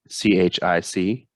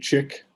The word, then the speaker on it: chic: Draconian Sheik, spelled CHIC. Yep. Chic. Some people call it chick. I say chic. It should be chic.